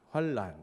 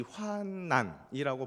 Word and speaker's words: 환난: 그렇게 발음합니다 그죠 왠지 환난 이라고 발음하면 틀린 것 같습니다 그죠 자음 동화 현상이 일어 나야 될 것 같고 그래서 우리는 항상 환란 으로 발음 하지요 그런데 사실 환난이 맞습니다